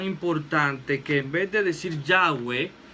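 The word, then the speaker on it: Yahveh: que vete a decir yagüe que era la pronunciación que más o menos le daban ellos quedan yagüe o llave ellos le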